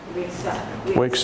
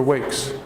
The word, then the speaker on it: wakes: We want to be able to hear the S.